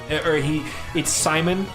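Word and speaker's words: Psymon: It's Simon, but it's spelled P-S-Y-M-O-N.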